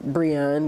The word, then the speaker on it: Brianne: Twitter and Instagram, Brianne, which is, which is the phonetic pronunciation of my name.